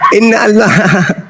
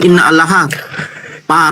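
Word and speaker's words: إن الله: Ternyata itu bukan "innallah." Apakah kamu seorang kafir yang terkutuk? Astaga. "Inallah" ada di sana. Innallah. Innallah. Hai. “Innallah”, bukan “inna allaha”. Inallahairukimat minhu. Begitulah cara membacanya. Sekarang, terjemahkan apa yang saya baca tadi.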